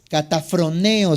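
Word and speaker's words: καταφρονέω: La palabra menosprecia, si quieres apuntan en el original griego, es la palabra cataproneo. Está difícil, se las voy a deletrear letra por letra. Dice K-A-T-A-P-H-R-O-N-E-O. Catafroneo se podría pronunciar.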